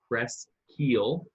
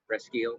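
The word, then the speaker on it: Presqu'ile: So it's actually pronounced Presquile. Presquile, yeah. K-E-E-L. They actually, on their T-shirts at the winery, it says Press Keel, and I'm like, oh, they're so cheesy, man.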